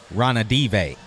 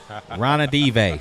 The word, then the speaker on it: Ranadive: Oh, I got the correct pronunciation of the King's owner. Oh, you got it? Yeah, it's Vivek Ranadive. Ranadive. Sorry about that, Vivek. Yeah, say that 3 times fast. Vivek Ranadive.